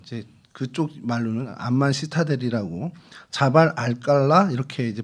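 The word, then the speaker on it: جبل القلعة: 어 암만 시타데리라는 이제 그쪽 말로는 안만 시타데리라고 자발 알칼라 이렇게 이제 발음을 합니다.이 시타텔이 이제 요새라는 뜻입니다.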